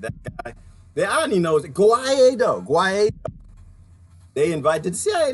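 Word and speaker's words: Guaidó: The irony knows Guaido. They invited the CIA learn how to pronounce his name. They keep calling him Guido.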